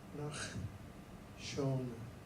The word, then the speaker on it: Nachshon: and that would be pronounced Nachshon.